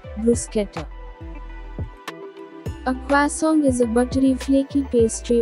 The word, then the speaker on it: croissant: to pronounce this word it is not croissant correct pronunciation is choi song song kwa song stresses on kwa sound kwa song kwa song